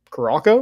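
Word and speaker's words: Curaçao: yeah that's kind of messed up whatever um karako I'm not saying that wrong hey how you spell it c-u-r-a-c-a-o cracko garoco spelled again c-u-r -a-c-a-o uh you're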